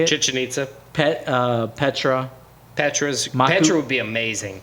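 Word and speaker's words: Chichén Itzá: Great Wall, Chichen Itzu. Is that how you say it? Chichen Itza.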